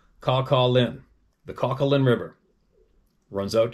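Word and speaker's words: Kawkawlin: River k a w k a w l i n River pronounced Calin the Calin River Runs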